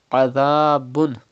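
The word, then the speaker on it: عذاب: Walahum adhabun. Pronounce ain from the middle part of your throat and pronounce dhal without whistle sound.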